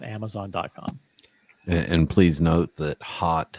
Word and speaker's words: Haute: And please note that hot is spelled Haute.